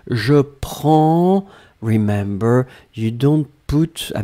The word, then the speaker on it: prends: It's je prends remember, you don't put, I mean, you don't pronounce the S and you don't pronounce the D, but it should be there. P-R-E-N-D-S.